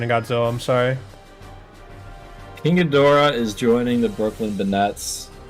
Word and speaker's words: Ghidorah: lot of things well uh we've got king ghidorah the hydraegon oh i love hedgehog he spell that for me ping g-h-i-d-o-r-a-h that's two words